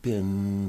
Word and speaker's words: been: and a hard place you say the word Ben as if it was spelled bin ein how long have you been studying English oh I've